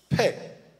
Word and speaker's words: Pei: So the 17th letter in the Hebrew alphabet is the letter Pei, P-E-Y, you would pronounce it P-A-Y, Pei.